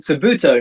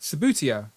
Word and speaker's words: Subbuteo: So I apologize for my over enthusiasm when I realized what I thought it was called Subuto, not How do you say it? Subbuteo. Subbuteo. Oh yeah, okay, fine.